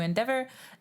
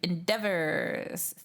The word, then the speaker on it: endeavor: You could think of the EA as an eh sound in de, like egg, more like a short E, and endeavor.